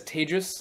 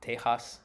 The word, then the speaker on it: Tejas: My name is Tejas. That's pronounced like advantageous for those of you who may struggle to say it. It is definitely not Tejas.